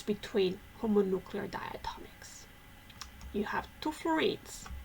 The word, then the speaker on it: homonuclear: Let's talk about homonuclear or homonuclear, homo, you all pronounce the H in English.